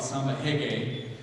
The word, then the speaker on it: samba reggae: They call it samba reggae in Brazil. That's how they pronounce their R's.